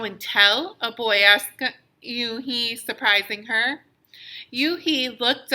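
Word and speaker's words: Unhei: scrunching up her face uni some kids chanted no no oh he corrected she corrected it's spelled u n h e i it's pronounced you he oh it's you hey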